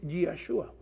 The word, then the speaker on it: Yeshua: Si quieren la pronunciación en hebreo es Yeshua.